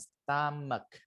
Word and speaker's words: stomach: Kemudian ada stomach, bacanya stomach gitu ya. Stomach tulisannya stomac gitu ya. Bacanya stamak. Stamak itu perut.